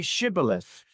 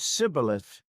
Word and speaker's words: Shibboleth: When someone tried to cross, they asked, "Say Shibboleth." The Ephraimites could not pronounce the sh. They said Sibboleth.